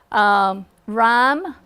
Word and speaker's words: rhyme: Rhyme. Okay, you're not hearing that H.